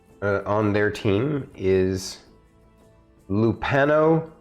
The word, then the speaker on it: Lupano: the second person uh on their team is lupano ubet that's l-u-p-a-n-o and then ubet is u